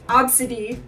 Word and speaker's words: Abcde: are over 300 children named AB bcde e the first five letters of the alphabet pronounced obsid which I I mean